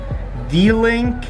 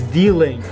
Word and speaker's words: D-Link: seen apple sell this the link mini camera i think it's pronounced the link no it's dealing it's d-link mini camera